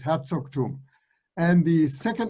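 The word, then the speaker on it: Herzogtum: him also and you climb so again it's herzog tomb and the second name mine mine that's just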